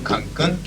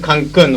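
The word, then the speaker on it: Cancún: By the way, the pronunciation for the word Cancun, which is the name of this village, is with accent here. There is an accent mark.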